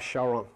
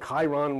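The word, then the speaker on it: Charon: wanted more information about Shaon you can call him Chiron whatever you pronounce him ch or you spell Shaon.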